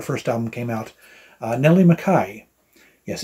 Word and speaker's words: McKay: album came out uh Nelly Makai yes it's spelled like McKay but it's actually pronounced Makai she is a British